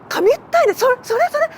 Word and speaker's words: Kamiuttainai: Kamiuttainai! Sí, sí. Sin duda es esa persona. Sí, sí que lo es, ¿verdad? Las sílabas serían Kami, Utta y por último Nai.